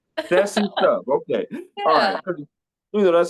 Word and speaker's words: Sessiestuff: Hosting your show uh how do you pronounce the show because it says sesy stuff but that don't that don't is that the pronouncing of it you killed it man it's sesy stuff Sessy stuff okay you